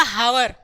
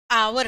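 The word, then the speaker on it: hour: Beginning with H silent, अगर किसी भी वर्ड के पहले एच साइलेंट है, आप छोटे बच्चों को पढ़ाइए, आ गया, हाँ, आप किसी छोटे बच्चे को दे दीजिए तो क्या पढ़ेगा, हावर, हावर, हावर, लेकिन हमें पता है कि यहाँ पे एच साइलेंट है, और जहां पे एच साइलेंट होता है वहां पे हम आवर पढ़ते हैं, आवर।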